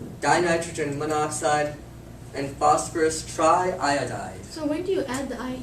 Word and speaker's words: iodide: like in this case iodine is one of those little weird exceptions you actually do two syllables aiyo aiyo so otherwise it's normally like fluoride bromide phosphide nitride iodide as one that has two and selenite is one